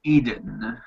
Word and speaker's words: Eden: with an I hold up one second Eden pronounced Eden yeah Eden um so yeah this is this